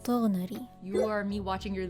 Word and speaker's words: Tighnari: In my personal opinion, I think it would be fine if it were to be pronounced as Tighnari instead of Tighnari. So that's a vowel difference. Tighnari.